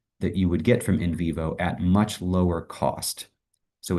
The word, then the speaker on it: NVivo: My department tried to purchase a subscription to a software package called InVivo, which you may have heard of. It's spelled like the letter N, Vivo.